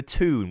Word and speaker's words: Thun: I thought it was pronounced Thun, but apparently the TH sound in German/French/Swiss is like a T sound, so it's more like tune or something like that.